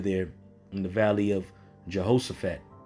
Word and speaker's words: Jehoshaphat: Ultimately, World War III being fought over there in the Valley of Jehoshaphat. In the ancient Hebrew, that's pronounced Yahweh Shapat.